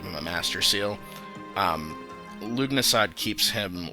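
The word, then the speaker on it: Lughnasadh: to Leonardo okay so lug nasad which I believe is the correct pronunciation of that I don't know why there are so many silent hes in that uh Bow's name but lug NAD um yeah if you're counting that's two silent H's um anyway very good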